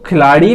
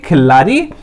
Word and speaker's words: खिल्लारी: महल, उसके बाद हल्दीकर, फिर है खिलाड़ी, कहीं कहीं इसको खिलाड़ी भी बोलते हैं, खिल्लारी।